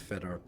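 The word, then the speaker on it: Foetor: You have no idea that it's supposed to be pronounced Feder when you look at it.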